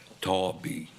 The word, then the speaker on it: Taub: Taub. Taub? Okay. That's like it's spelled.